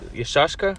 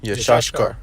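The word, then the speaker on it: יששכר: Que Isaacar es Yeshashkar. Yeshashkar. Yeshashkar, que significa él es Contratado.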